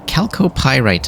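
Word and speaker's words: chalcopyrite: Uh Calco pyite apparently is how you say that.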